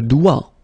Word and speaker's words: doigt: Okay, so don't be frightened by this G because basically you don't pronounce it and then the final T you don't pronounce it. So the only thing you get to pronounce is this combination of three letters, here, D, O, I, okay? O, I, it's wa and then D, doigt.